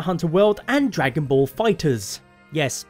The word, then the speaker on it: FighterZ: for both monster hunter world and Dragon Ball fighters yes fighters as though there's EDD at the end is an S that's the official pronunciation of it according to banana demco but